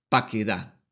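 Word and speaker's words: פָּקְדָה: En el tercero femenino singular, según las reglas del hebreo, esta palabra se pronuncia paquedá.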